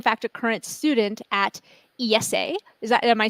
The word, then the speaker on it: IESE: a current student at Esa is that am I saying that right is that how you guys pronounce it yeah we pronounce it Esa like the Spanish way okay that's what I